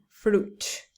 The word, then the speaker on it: fruit: circuit okay when it's uit with fruit it's pronounced fruit okay I like to eat fruit and biscuits